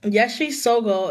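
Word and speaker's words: Yeshe Tsogyal: And it says Yeshi Sogo is one of the great Dakinis in Buddhist history. And Yeshi, if you guys want to look it up, is spelled Yeshe and then Tsogyal.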